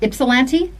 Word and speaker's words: Ypsilanti: I think the Y is silent. Is it Ypsilanti, Michigan?